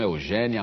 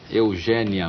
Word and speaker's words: Eugénia: Eugênia Melo e Castro, você deve ter percebido que eu fiz um esforço aqui para dizer Eugênia. E não Eugênia. E não né? Eugênia. O seu nome se escreve com acento agudo. Agudo. Todas as pessoas em Portugal, Eugénia, se escrevem com acento agudo. Essa história do acento circunflexo não existe no meu nome.